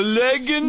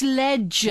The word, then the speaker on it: legend: you Paul right the leing No No Paul it's a soft G it's Legend what do you mean